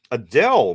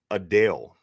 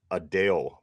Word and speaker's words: Adele: me do that again we say Adele but it's really pronounced a Dale a Dale B d-a-l-e sound opposed